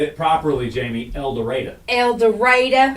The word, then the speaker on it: El Dorado: said it properly Jamie El Dorado El Dorado it's not El Dorado like it's spelled it's El Dorado El Dorado Elder writer